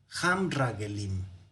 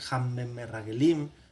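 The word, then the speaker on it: המרגלים: Y aquí si ustedes se fijan, este Sheba se vuelve mudo. Hamragelim. Eso es lo que me faltó precisar en el dibujo, que se vuelve mudo, se cierra, ¿verdad? Hamragelim. ¿Por qué? Porque no va a permitir la duplicación, no va a ser Hammerragelim o Hammerragelim, sino simplemente Ham, se va a cerrar.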